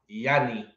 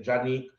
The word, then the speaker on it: Janeek: name is spelled janik but it's pronounced with a y yannick so i'm probably calling her name wrong but i keep on saying johnny the school said it